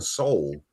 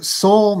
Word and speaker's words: Seoul: You notice, Donna, you saw it's in Seoul, Korea. So you have that Seoul, or is it pronounced Seoul? But it sounds like it's soul, like the actual human soul.